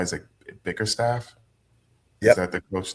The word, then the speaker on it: Bickerstaff: Is it Bickerstaff?